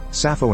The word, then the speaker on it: Sappho: There appears to be no etymological link between the two, and in both cases the first p is silent, or if you prefer, the pi is silent.